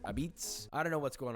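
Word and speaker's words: apizza: this New Haven pizza but they also pronounce it abitz I don't know what's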